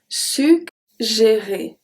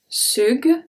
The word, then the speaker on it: suggérer: And we are going to see another case when we have two G in the middle. But this time it's going to make a G sound, the hard sound, and then the soft G.